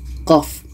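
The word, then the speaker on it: ق: 1 ini apakah bacanya Apakah kita baca Q itu salah Jadi huruf fawatihuswar ini atau huruf muqatah harus kita kembalikan ke sebutan asalnya kita baca mengikut ejaan huruf hijaiyahnya kalau qo ini ejaannya adalah seperti ini qof nah jadi dikarenakan di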